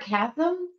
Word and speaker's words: chasm: The word chasm, right? It's C-H-A-S-M. And I'd always pronounce it in my head chasm for some reason. But then I heard somebody actually pronounce it as chasm.